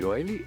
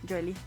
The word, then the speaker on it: Yoli: ¿Yoeli o Yoli? Yoli. Yoli. Usted, muy bien.